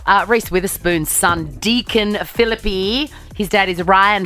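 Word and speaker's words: Phillippe: the thing now uh Rees Witherspoon's son Deacon philippy his dad is Ryan philippy that is how you pronounce it like centipede phip um he has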